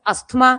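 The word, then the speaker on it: asthma: सांस related disorders में अस्थमा जो आप बोलते हो जिसको हम लोग एज्मा पढ़ते हैं उसको पढ़ना आपने एज्मा या टी साइलेंट होता है।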